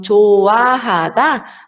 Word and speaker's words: 좋아하다: Então, quando ele vier no 받침 e depois, logo depois, vier o iam, ele não tem som. Então, 좋아하다, a gente não vai pronunciar o hi읗.